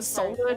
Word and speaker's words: solder: So, my cousin ended up having to bake it in an oven to get the solder to reconnect. You're not supposed You're not supposed to pronounce the L.